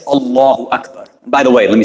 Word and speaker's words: Allahu Akbar: You know, sometimes we're saying like, I've heard people say Allahu Akbar or Allahu Akbar or things like that, right? So we want to make sure that we're trying to say it properly, Allahu Akbar, right? To try to pronounce it like that.